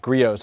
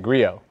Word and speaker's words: Griot: We had a quick question about griots. How do you pronounce griots, Sam? It's a great question. Long debated. Griots. Griot. Griot. Griot. It is French. Griot's garage. Unfortunately. Silent T.